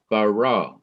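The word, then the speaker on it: ברא: or stress that syllable so it is it is bara that is why i come down heavily on the raw because that is the syllable that is to be emphasized or stressed then the third word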